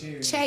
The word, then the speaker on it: Che: How you spell that? Michael Shea. Che. Or is it Che? Che, yeah, Michael Che.